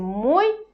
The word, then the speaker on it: мой: мой дом мои мой когда мы произносим мой мы ударение ставим на о мой и поэтому и краткие